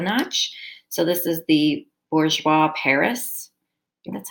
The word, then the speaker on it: Bourjois: So this is the Bourjois Paris.